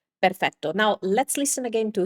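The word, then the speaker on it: perfetto: So o O instead of doing O, do O just keep your tongue higher and close your mouth a little bit. So this is the correct way to pronounce this is perfecto.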